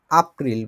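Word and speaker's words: April: তারপরে এপ্রিল হচ্ছে এপ্রিলের মতোই আপ্রিল বলে এটাকে, কারণ জার্মান ভাষায় একে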